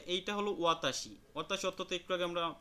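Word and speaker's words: は: দেখেন যে এইটা হলো ওয়াতা অতাশী অর্থ একটু আগে আমরা পড়ে আসছি যে আমি এরপরে হলো হা না হয়ে এই উচ্চারণটা হয়েছে কি ওয়া কারণ এখানে এটা কি পার্টিকেল হিসেবে ব্যবহৃত হইছে আপনারা পার্টিকেল সম্পর্কে সামনে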